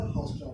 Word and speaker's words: haustra: करें, ऑस्ट्रिया HAUS, हाउस्ट्रा, हाउस्टेरिया नहीं होता है, हाउस्ट्रा, HAUSTRA, ठीक है। अब इसको लिख लीजिएगा, कट कर लीजिएगा स्टेप को उसका, तो आप इसको लिख लीजिएगा हाउस्ट्रा, ठीक है।